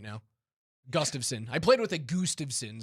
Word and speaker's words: Gustafsson: isn't the name Gustav, right? The first name is Gustav. It is. And then Gustav son.